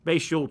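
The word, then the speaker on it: Bhayshul: Because a third back, I should say, entered the fray, 4th-round pick, and how do you pronounce Bashul? Yeah. Bashul Tootin, yeah.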